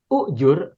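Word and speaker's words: أُجُرْنِي: ya bapak ibu ya Coba kalau kita betul membacanya adalah ujur Allahumma Jur ini fiil Amar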